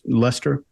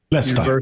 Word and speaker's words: Leicester: at I think it's how do you pronounce it mark less Lester Lester yeah yeah University of